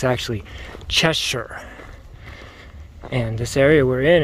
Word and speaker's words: Cheshire: Well, I've learned since from the locals that it's an old English spelling with a new American pronunciation. It's actually Cheshire.